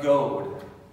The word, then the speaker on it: goad: a goad a goat you know what a goat is spelled g-o-a-d you might have seen